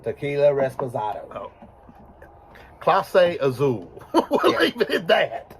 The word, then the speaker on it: Clase Azul: that's Clase Azul. Clase Azul. Tequila Reposada. Oh. Clase Azul.